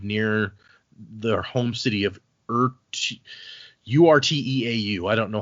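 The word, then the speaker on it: Urteau: their home city of ura. I don't know how you pronounced that. Oh, it's like I thought u because it's same spelling as the end of plateau.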